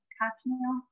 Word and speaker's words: Cochineal: It's put out by a company called Cochineal. Cochineal? Is that how you pronounce that? Uh-huh. Just like the dye or the bug? Yeah.